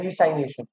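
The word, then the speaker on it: resignation: ऊपर लिखा हुआ है RES डबल SION इसे बोलते हैं रीसाइनेशन अच्छा प्रोनाउंस अलग तरीके से करते हैं ये वो इकोनॉमिक्स वाला रिसेशन नहीं है जो नीचे रिसेशन जा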